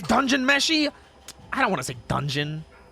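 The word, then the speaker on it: Dungeon Meshi: unless I'm crazy D is it Dawn meshy or is it dungeon meshy cuz isn't dawn like the shorten for it D meshy or is it dun meshy I don't I freaking know it is is dungeon meshy I don't want to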